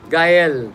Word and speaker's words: Gael: Do you say Gael or Gail? Gael Gael. Dr. Gael is how it's spelled, but I suspect that this is a foreign name in terms of another language. And maybe Dr. Gael can help us in that regard in terms of just confirming. No, I have a thing with names, you see. Yeah. So I like to find out the origin and the proper pronunciation, etc.